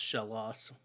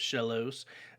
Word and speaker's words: Shellos: sea slug pokemon uh its name comes from a combination of shell and lost um because shellos or shell loss however you want to it's probably actually pronounced shell loss now that i've looked